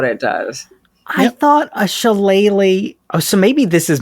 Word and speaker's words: Shillelagh: Every time someone is doing this spell, they're like, I don't know how to pronounce it. I looked it up. It's Shillelagh.